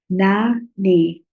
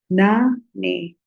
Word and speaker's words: nane: Followed by Na Ne. Na Ne.